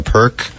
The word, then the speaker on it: Pirq: i RQ p i RQ sounds like a perk by the way Seattle